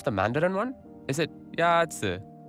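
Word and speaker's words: 鸭子: Is it ya-zi? Ya-zi is pronounced with a first tone. In Mandarin, there are four tones, which are essential to distinguish the meaning of words. The first tone is a high-level tone.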